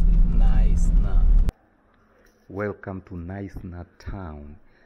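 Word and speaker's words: Knysna: it is sped okay nice now it is pronounced it nice now welcome to to nice town this is one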